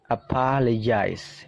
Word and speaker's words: apologize: Oke silakan dengarkan baik-baik apologize nah di situ dibaca je ya Ada simbol aneh seperti itu dibaca je apologize teman-teman bisa aplikasikan